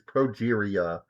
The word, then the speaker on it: progeria: It's Progeria.